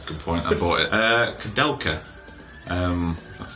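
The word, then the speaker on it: Koudelka: Kadelka. That's how you pronounce it.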